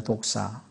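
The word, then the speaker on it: δόξα: 성경에서 영광은 독사는 것입니다 독사 우리 그 뱀을 얘기하는게 아니라 발음이 그렇습니다 그리스말로 독입니다 근데 이것은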